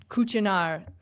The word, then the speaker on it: Cucinar: That's actually how it's pronounced. The brand is Firex, which is Italian company, and Cucinar. I don't speak Italian, but it's Cucinar, kind of yeah.